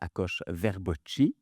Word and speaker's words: Akos Verboczy: C'est pas la vraie prononciationuse de mon nom, mais c'est parce que c'est moi qui l'a déformé avec les années. Fait que aucun aucun souci. C'est alors c'est ça, je m'appelle Akoche Verboi.